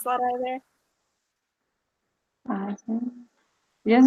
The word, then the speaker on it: ASEAN: I don't know how to pronounce that either. ASEAN.